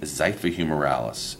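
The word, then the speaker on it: xiphihumeralis: the V is the site for humor Alice and if you're looking at your sheet that is the muscle that starts with the X so the same way you would pronounce the xylophone this is the site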